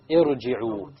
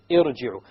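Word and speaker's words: ارجعي: You cannot pronounce the silent ra. You need a letter or a vowel before it. Therefore, the Hamzatul Wasl has been placed.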